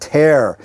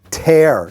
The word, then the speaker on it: tear: The next one, wear and tear. And be careful about the pronunciation here. You want to say tear, not tear.